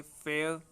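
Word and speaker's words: fair: फेयर, इसको इस तरह से बोला जाएगा, दोनों स्पेलिंग देख लेना फेयर की, तो फेयर, यहाँ र जो है वो बोला नहीं गया, फेयर।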